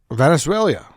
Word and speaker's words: Venezuela: Venezuela. You know, you know you're I swear to God, Venezuela. Why you add You're adding a syllable, dude.